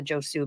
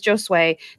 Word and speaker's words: Josue: Anglicanized or, you know, we end up with a Josue because somebody doesn't know how to pronounce it, but it is Josue.